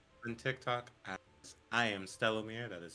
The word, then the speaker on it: Stellomir: You can find me on TikTok as I am Stellomir. That is spelled STELOOMIR.